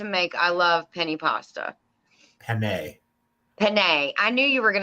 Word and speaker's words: penne: Penne. I knew you were going to nail me on that one. I knew that. The E in Italian is pronounced with an A. Okay. Penne.